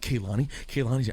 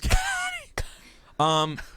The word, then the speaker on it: Kehlani: And Kehlani is spelled Kehlani. Yes, it sounds like Ke. Her name's Kehlani.